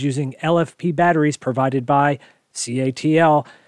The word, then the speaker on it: CATL: lfp batteries provided by catl c-a-t-l some people pronounce to cattle is the leader in